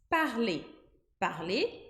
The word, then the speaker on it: parler: em francês verbo parler ele acaba em e r Carly esse E com R vai formar o som de e a gente não pronuncia o r mas o fato do Erre tá ali paz com que o que vem antes tem esse som de E então infinitivo a gente vai pronunciar Tali Tali E como que eu